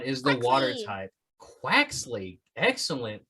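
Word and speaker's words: Quaxly: Quaxley. Excellent pronunciation. I was going to say Quarksley, and clearly that's wrong because there's no R.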